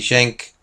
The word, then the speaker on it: Cenk: this but shank and if I can pronounce that correctly shank yeah that's that's how it is he just doesn't want